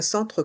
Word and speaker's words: centre: Ici, dans le mot centre, il y a le son en avec les lettres E et N. Centre. Et le C se prononce se, car il est suivi de la voyelle E.